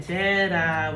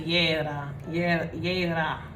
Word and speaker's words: Jera: Jera, which means harvest, right? Let's see. Okay, it's actually Yera.